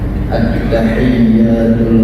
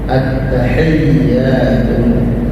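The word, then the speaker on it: التحيات: harus betul membacanya karena banyak orang salah baca attahiyatul attahiyatun yang benar attahiyatul mubarakatus shawat thayibatu lillah.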